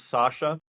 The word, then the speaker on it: Sascha: okay and in Germany just imagine my name being spelled without the letter C in it gotcha that would make